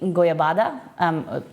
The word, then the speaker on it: goiabada: And then pastéis de goiabada, that's how you pronounce it in Portuguese, goiaba, I think it's in Spanish, which is like a cheese and guava paste dessert.